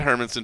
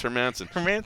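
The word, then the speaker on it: Hermansson: sometimes i mispronounce it i said hermits i said hermansen forever and then i was like oh it's her mansion yeah sometimes i did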